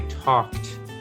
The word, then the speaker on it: talked: but we need to remember that it's i talked again with a t sound so it's almost one